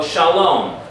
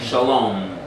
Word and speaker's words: shalom: So shalom, the first syllable is what? Open. Good. What is it? Pronounce it for me. Shah. Sha. Everybody do that. Sha. Do it again. Sha. Your mouth stays what? Open.